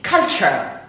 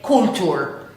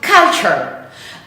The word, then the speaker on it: culture: That is, this is the phonetic way of writing this sound, because the correct pronunciation is culture. Culture. It's not cool, because some people say culture. No, it's culture.